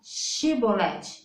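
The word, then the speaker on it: שיבולת: atma discordância na pronúncia eles não conseguiam pronunciar o ch eles falavam com s e ali é não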